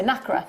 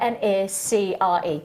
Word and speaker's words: nacre: and he says, he's very posh, he goes, negra. And I can't say like negra. So I say nacre, right? But you can say however you want. Either way, you spell it N-A-C-R-E, right?